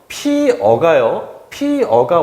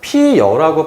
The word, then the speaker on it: 피어: 한편 피어가 원래 발음이지만 피여라고 발음하는 것을 허용한대요.